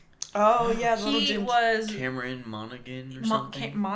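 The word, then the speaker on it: Monaghan: Cameron Monigan or something. Monahan. I always thought it was Monahan. I think I think that's a Irish pronunciation.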